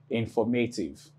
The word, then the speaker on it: informative: Now, what you do is you have one, two, three, four. That's four syllables. Now, in four syllables, this is four syllables. Four seals. Okay? Four syllables. You have ultimate, that's the last syllable. Then you have penultimate, and this is the antepenultimate syllable. That's the F-O-R. I hope that's understood. So, the main or primary stress falls on F-O-R. The reason is, we started counting from the end.